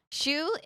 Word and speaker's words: shu: Shu uses the same kanji as sake, but it's pronounced differently. I forget why it's pronounced differently. It's pronounced as shu, but it uses the same kanji.